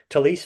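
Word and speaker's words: Taliese: Talise Fuaga? Is that right? Police, yep. Talise Fuaga from Oregon State.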